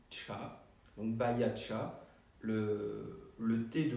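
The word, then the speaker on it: 茶: Là, c'est le caractère du thé qui se lit cha.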